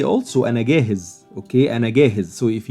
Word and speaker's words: جاهز: The difference, as I told you before, that the pronunciation of this letter is Jim in Modern Standard Arabic and Gim in the Egyptian dialect of Cairo.